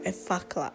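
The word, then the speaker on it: Effaclar: Next, of course, I move in with my La Roche-Posay Effacla. It's called Effacla. OMG, this time I pronounced it right.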